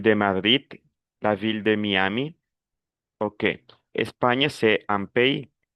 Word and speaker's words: Miami: En espagnol, on dit Miami, en français, on dit Miami.